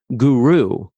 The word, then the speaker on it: guro: If it was guru, and I've known plenty of people who take that title with the G-U-R-O spelling and they pronounce it guru, probably for the reason you just said, that it's something that enunciates better for a lot of people.